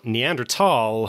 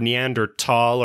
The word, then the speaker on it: Neanderthal: uh in the 1800's tall was spelled t-h-a-l but it was always pronounced tall and then uh german